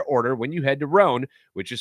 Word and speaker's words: Rhone: few because ironing is not fun and with rhone's wrinkle release technology wrinkles they disappear as you